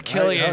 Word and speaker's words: Cillian: I think it's Killian. Oh, you Yeah, spelled But it, it 'cause they're gonna should- see this. it's spelled with a Spelled, C spelled though. with a C.